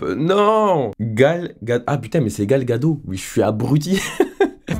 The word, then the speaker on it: Gal Gadot: Woman les prochaines films et donc l'actrice actuelle galgote galgos comment ça se prononce attends la dyslexie qui me rattrape non gale ah mais c'est Gal Gadot oui je suis abruti en effet la